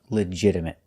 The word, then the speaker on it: legitimate: our next word is legitimate we notice that the t is pronounced with a fast D sound not legitimate but legit legitimate and a stop T at the legitimate legitimate means